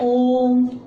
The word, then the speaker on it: ओम: रहा होता है और इसका उच्चारण जब हम करते हैं ओम तो इसके उच्चारण में जो हमारा यह जो साइड है वह दो या तीन मात्राओं के उत्सव के समान लगता है किसी अब दो या